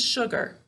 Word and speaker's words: sugar: class so this is sugar sugar all right do you hear how there's a sh sound at the beginning but this is all right it's because our u here is distorting this sound all right so if